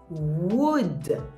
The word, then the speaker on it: would: wood W ou ULD et vous ne prononcez pas le l donc vous dites wood comme le bois oui comment ça se